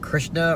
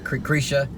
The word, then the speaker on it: Krisha: It Comes at Night and Krishna, I don't know how to pronounce it. Krisha. That's what it is.